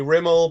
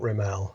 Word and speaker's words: Rimell: was my mother's affectation but most people say Rimmel but I've always been taught riml so yeah yeah was that something your mom was a stickler on no no it's riml yeah I just grew up and it's rimel